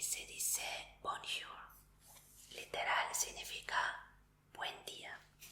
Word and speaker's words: bonjour: Y bueno, si no sabías, en el francés la última letra jamás o en paso a esta R, pero sí escríbelo, así se escribe correctamente. Así que solo se va a decir bonjour.